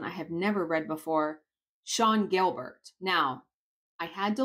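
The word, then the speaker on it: Sian: have never read before Sean Gilbert now I had to look up how to pronounce this name because it's spelled s-i-a-n it's pronounced Sean so the book is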